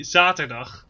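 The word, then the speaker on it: zaterdag: hmm in netherlandic uh saturday would be zatadak the zet za and a hard g as well at the end uh as for my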